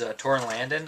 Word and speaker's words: Torin Langen: The director of these shorts is Torin Langen, I believe is how he pronounces his name.